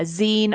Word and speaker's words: zine: Well, it's magazine. So there you go. Zine. I mean, I've always said zine.